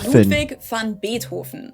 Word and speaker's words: Ludwig van Beethoven: Well, he himself would have said his name as Ludwig van Beethoven. The V in his name is pronounced the same as an F sound.